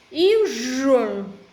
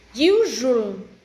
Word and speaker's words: usual: Let me start pronounce the word usual correctly. Right, and 3 syllables. Usual, usual. Second syllable, underline. Need to be voiced.